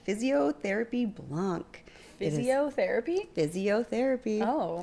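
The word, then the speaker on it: Fizziotherapy: Physiotherapy. Oh. It's spelled F-I-Z-Z-I-O. Oh, okay. Because it's like a sparkling white wine.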